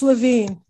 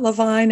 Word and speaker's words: Levine: It's Levine, East Coast. My father in the Army said it's Levine. It rhymes with latrine. It's not Levine as in Kishmir and Tachasarain.